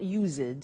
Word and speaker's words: used: Look at the spelling. It's U-S-E-D and then T-O. But the pronunciation is not used, it's used. Unusual. Used. Okay?